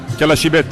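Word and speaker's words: Calascibetta: la salsa et le nom de la commune calashibet voilà il le prononce bien alors c'est c'est important pour Chapel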